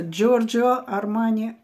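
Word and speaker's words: Giorgio Armani: он создаёт флакон для Джо армане Кстати часто очень мы называ парм Хотя правильно произносить дж потому что джор армане а Джо сокращённо от его имени с этим парфюмом у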